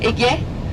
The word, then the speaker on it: Ege: That's how we pronounce, because G is Ge for us, Ege, and Aegean Sea, this one, okay?